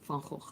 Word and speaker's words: Funko: said that one uh when i tell people how fancy is pronounced they don't believe me no people think that it's the van that goes but it's van gogh it's not about van gogh it's funko ever played age of